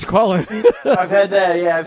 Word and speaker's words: Colin: I didn't want to pronounce it colon. So, I know it's Colin.